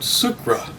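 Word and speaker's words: Sciacca: hello and welcome from southern sicily i'm sitting in a town called sucra it's spelled s-c-i-a-c-c-a it's a beautiful little town on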